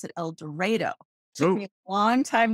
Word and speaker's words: El Dorado: it's sound strange in El Dorado they actually pronounce it el doro took me a long time to get used